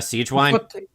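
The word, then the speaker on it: Sigewinne: but like why is is this sea wine or how is it pronounced uh Siege wine Siege wine yeah why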